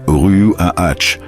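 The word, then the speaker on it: רוח: Ce mot se prononce comme Ruach, et vous devez faire un son dans votre gorge à la fin.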